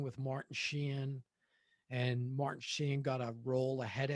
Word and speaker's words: Sheen: know me with names i'm always like a syllable martin sheehan you you tagged me on this trick you tagged me on this already when i mentioned charlie sheehan that's how i say it it's sheen that's i